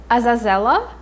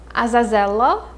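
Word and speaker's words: Azazello: be karovyev karovyev another psychic of voland is azazella azazella it might be a little hard to pronounce it's azazella and the third character in his group is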